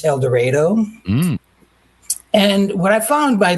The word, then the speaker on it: El Dorado: Here in Kansas, we don't pronounce things the way everybody else does. It's El Dorado.